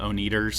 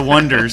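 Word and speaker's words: Oneders: The Wonders, and they spell it O-N-E, and people would call them the O-Neaters. Oh, gotcha. And they're like, no, we're the Wonders.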